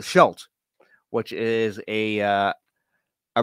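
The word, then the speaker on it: Scheldt: bad news is the the shell Estuary not the slack right really didn't pronounce that correctly in the last time though I'm correct myself this time uh the Shelt which is a uh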